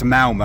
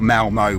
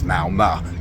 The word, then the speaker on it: Malmö: It's pronounced Malmö. I had to actually ask somebody for that. It's not Malmo with the O, it's Malmö, kind of.